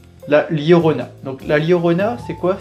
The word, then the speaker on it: La Llorona: réaliser un premier cocktail donc ça se prononce la lorona donc la lorona c'est